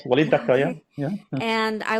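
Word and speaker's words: Walid Daka: You mentioned the poet Wai Daka. I may have Yes. said his name wrong, No, but no, you said it right. Walid Dakka, yeah.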